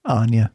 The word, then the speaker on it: Anna: You're saying it like Anna again. Sorry. It is Anna. Anna. Anna. Anna is the correct pronunciation.